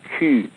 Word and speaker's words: cul: And of course, a Q is pronounced Q in French, and it means an asshole.